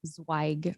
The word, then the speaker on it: Zweig: Instagram handle I'm zwag my full name j SS I ca ZW i g my last name is pronounced zag with a sharp eye yeah just my name